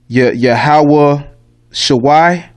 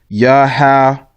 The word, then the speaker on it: Yahawashi: read in the Tanakh, it might say Yahawah Shawai, Yahawah Shawai. That's wrong too. That's the wrong pronunciation. Okay, you would take this Y out, and actually it's just Yahawashi.